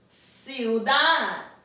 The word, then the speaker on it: ciudad: Now remember we said if a word ends in a consonant other than an N, R, and S, the last syllable will receive the stress.